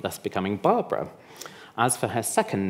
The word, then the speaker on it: Barbra: Oh, round of applause for Barbara.